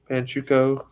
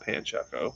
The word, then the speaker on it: Pancho: appreciate y'all stopping by panchoko i've been saying your name wrong the whole damn time it's pancho not panchako my bad thanks for